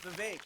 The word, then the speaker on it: Vivek: Hey, Vivek, if your name rhymes with cake, you could have just said, my name is Vivek.